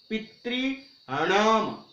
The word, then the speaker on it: पितृणाम: और षष्ठी विभक्ति का बहुवचन देखिए पितृणाम। पितृणाम। वैसे जो ऋकारांत शब्द होंगे वहां पर सब जगह हम देखेंगे कि नाम की जगह क्या आएगा? हणाम। हण, हणाम, पितृणाम। इस प्रकार से उच्चारण होगा।